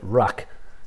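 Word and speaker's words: vraic: They called it rack, which is spelt with a V.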